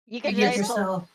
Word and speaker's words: Yggdrasil: Yggdrasil. Oh, that's how you pronounce it?